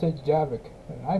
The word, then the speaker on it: Javik: They pronounce it Javik, and I pronounce it Javik.